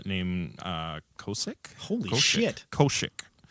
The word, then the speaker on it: Koshik: Koshik. Kosik, but it's pronounced Koshik.